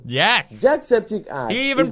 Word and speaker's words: Jacksepticeye: Jacksepticeye. He even pronounced it right.